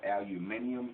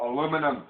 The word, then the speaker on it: aluminum: Excuse me, for those of you in other countries over you call it aluminium. It's called aluminum. Aluminum foil! Aluminum. Aluminum, not aluminium. Learn how to pronounce it.